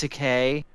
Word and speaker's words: Takei: to okay it's pronounced Takei oh is it Rudy it's easy to remember cuz you just say George Takei is gay he made a video